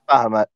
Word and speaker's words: Bahamut: and I say in Draconic, uh, uh, Bahamut is how you pronounce it, right? Yeah, Bahamut.